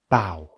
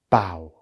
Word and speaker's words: bough: tough cough yes usually if you see a word that ends in o u g h it will be pronounced uf but that is not